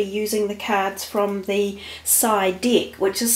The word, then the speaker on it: Psy: we will be using the cards from the side deck which is spelt P sy and that is what it